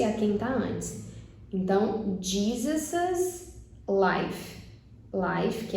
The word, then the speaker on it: Jesus's: Outra peculiaridade é a pronúncia. Então ficaria Jesus's life. Jesus's life.